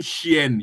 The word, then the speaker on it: chienne: female of dog, une chienne, you put e. But with the dog, you put une chienne. ne again, like une chienne, chienne. You pronounce with ne, une chienne, un chien, Okay, une chienne.